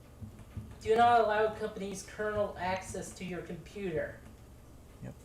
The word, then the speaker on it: kernel: Kernel. Kernel. It's Kernel. pronounced the same way as Colonel, the military rank. It's Okay. just spelled with a K and an ERNEL.